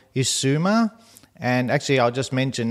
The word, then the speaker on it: Issuma: Issuma.